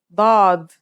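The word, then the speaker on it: ضاد: we learn is do this one is like a strong version of the D kind of like the D in the word do order it looks just like the S except that it has a DOT on top the difference between this letter and D is the same as the difference between s and sin with your throat constricted here's how to write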